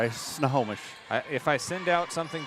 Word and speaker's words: Snohomish: Only really one way to, well, there are two ways to pronounce it, and one of them is correct. The wrong way is Snohomish. Yeah. Well, I kind of use an A in the first part.